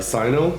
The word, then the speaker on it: Cyno: issue with the uh Sino I pronounce him Sinnoh because of Pokemon uh um but I